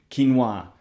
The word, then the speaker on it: quinoa: Quinoa or...